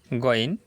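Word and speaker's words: غين: Next, goin, not gain. You can't say gain. The correct pronunciation is goin.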